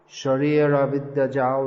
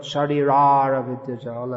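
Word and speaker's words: शरीर अविद्या जाल: Sharira Vidyajal, that's Bengali, not Sharirara Vidyajal, as is often heard.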